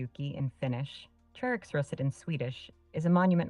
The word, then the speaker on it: Treriksröset: In Swedish, it's pronounced Treriksröset, which is very close to how you spelled it. Sorry, Sky. We have to agree to disagree. It's Tre Riksruset, or as a so-called Finnswede, at least that's how I pronounce it.